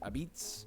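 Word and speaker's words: apizza: Number 29, Connecticut, which they call this New Haven pizza, but they also pronounce it abitz.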